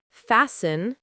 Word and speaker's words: fasten: Silent T versus pronounced T. Listen, list. Castle, cattle. Fasten, fast.